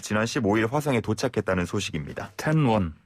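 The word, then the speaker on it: 天问: 텐원. 예. 이게 우리 발음으로는 천문이죠. 천문.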